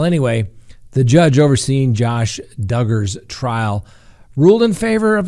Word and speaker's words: Duggar: let's talk about josh duggar and for all those that hate it that's right rhymes with hugger okay i said it